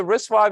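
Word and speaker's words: RISC-V: is risk five so risk five is is written as risk Dash V but the the V is actually pronounced five number five it's an open source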